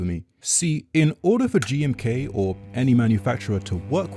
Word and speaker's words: GMK: Gumuk, or how is this pronounced? GMK. Oh, it's just the letter.